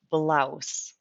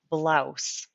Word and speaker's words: blouse: It is pronounced blouse, blouse.